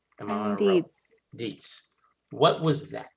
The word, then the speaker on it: Dietz: Dietz.